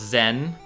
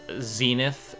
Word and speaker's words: Zen: And to answer, it's pronounced Zen, but I accept Zenith, Zenith Warrior Princess.